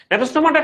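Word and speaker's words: Gnathostomata: নেথোস্টোমাটার ক্ষেত্রে ওই যে বললাম উচ্চারণটা নেথোস্টোমাটা হবে, লেখার সময় জি লাগবে। ওকে, জি থাকবে। আচ্ছা নেথোস্টোমাটার অর্থ কি, অর্থটা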